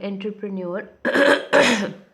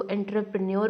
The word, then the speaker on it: entrepreneur: This word begins with E, but it is pronounced as if it starts with an O. I really have some difficulty pronouncing it as entrepreneur, लेकिन that is its correct pronunciation. हम अपने Pakistani style में इसको entrepreneur बोल देते हैं, but actually में इसकी pronunciation entrepreneur है.